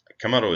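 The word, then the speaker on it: 竈: Um Kamo this by itself. So this means an earthn oven. Okay. Um it has a kamado is a kunyomi native reading but it also has a lesser known onomi reading which would be saw.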